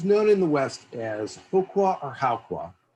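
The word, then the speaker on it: Howqua: And he was known in the West as Hokwa or Haokwa. Haokwa, we think is how it's pronounced. I may revert to Hokwa just accidentally.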